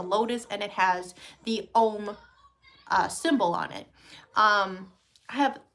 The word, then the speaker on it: Om: We all know Om, right? Om, O-M, is actually pronounced Aum, A-U-M.